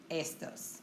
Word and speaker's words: estos: so you're going to put emphasis on that first E, estos, okay?